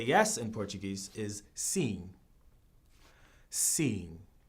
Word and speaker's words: sim: How you say yes in Portuguese is sim. Sim. It's kind of like si, but except with an extra letter on it.